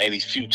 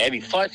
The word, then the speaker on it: Futch: He called him Eddie Fuchs. I said, who's Eddie Fuchs? I said, you mean Eddie Futch? He's like, oh, that's how you say his name.